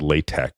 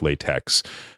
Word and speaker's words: LaTeX: So, I only used a system called Latte, which is spelled L A T-X. It's spelled like Latex.